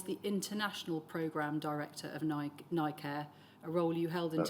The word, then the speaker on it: NICare: And you say that that's called NI Care or NICare? How do we pronounce that?